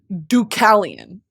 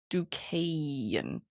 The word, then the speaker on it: Deucalion: He's sometimes presented as the father of Deucalion, the hero of the flood story.